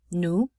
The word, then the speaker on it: nous: Nous, again, the S is not pronounced.